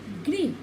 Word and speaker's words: गृह: री की मात्रा का उच्चारण भी र की भांति ही होता है। मृग, मृग, मिऋग, क्या हुआ, र, ग, मृग, गृह, ग, र, ह, ठीक है, गृह।